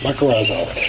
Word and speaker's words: mycorrhizal: to put a little bit of I always mispronounce this. Mycorrhizal inoculant. There you go, mycorrhizal.